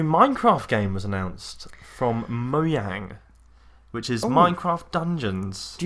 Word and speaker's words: Mojang: a price cheese because in China they won't pronounce the J there nevermind oh of course that's what we were arguing about yes everything alright so that's why it's pronounced mo yang so minecraft dungeons is